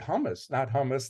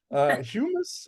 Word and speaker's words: humus: Hummus, not the food. Humus, I guess it's pronounced.